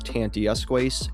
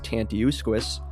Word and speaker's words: Tantiusques: The name Tantiusques, which I've seen pronounced both as Tantijusques and as Tantiusques, comes from the local Nipmuc indigenous peoples who resided in the area long before European settlers arrived.